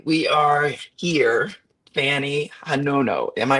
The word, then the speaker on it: Fanny Hanono: Fanny Hanono. Am I pronouncing that correctly?